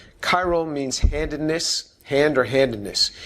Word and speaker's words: chiral: to be chiral uh it's a ch but it's pronounced like a hard c chiral chiral means handedness hand or